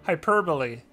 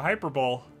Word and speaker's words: hyperbole: Together with hyperbole. I used to think it was a hyperbole. Is it a hyperbole to say that I find it extremely strange that it's pronounced tertiary?